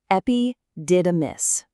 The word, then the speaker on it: epididymis: Let's nail that pronunciation. Epidamus.